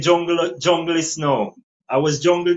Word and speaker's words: Junglyst: Up a yeah, jungle, yeah, junglist, exactly.